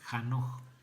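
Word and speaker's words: חֲנוֹךְ: porque le llevó dios es un nombre de origen hebreo que se pronuncia jano qué significa dedicado esto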